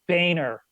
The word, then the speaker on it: Boehner: here like you know how does he get Boehner out of his last name B oh eh and E are really that's like calling